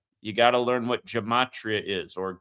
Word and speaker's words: Gematria: You got to learn what Gematria is or Gematria, pronounced both ways.